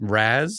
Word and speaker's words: RAS: I like when DK goes such a dad is my guy when he guess what his RAS was. Did you say RAS? RAZ with a soft S.